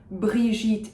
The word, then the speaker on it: Brigitte: However, Brigitte Giraud, I am pronouncing a soft J because you'll notice that there is no U in between the G and the I. So Brigitte, soft J, Brigitte, Giraud.